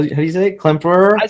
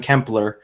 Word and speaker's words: Klemperer: gonna say the and I can never pronounce sister Colette blur how Klemperer I got a lot of hate for calling him kempler but uh anyway yeah